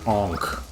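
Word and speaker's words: ankh: And that little symbol up there is pronounced onk.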